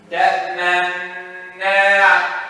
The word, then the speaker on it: تأمنا: Look at this. تأمنا. Did you know I did it or not?